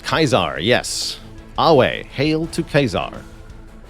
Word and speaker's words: Caesar: in actual history so Caesar is pronounced kaizar yes away hail to